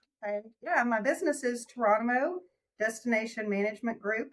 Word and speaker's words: Touronimo: what you do okay yeah my business is torono destination Management Group it's pronounced like jono only tour t r um sometimes people will say tyano or some different versions no it's torono it's very simple um and we like to